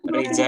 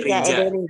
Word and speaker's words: rica: Rica ederim. Sama-sama. Ini bacanya bukan rica ya, bukan rica. Nanti dianggap makanan. Bukan rica-rica. Tapi rija. Bacanya rija. Pakai z, pakai j.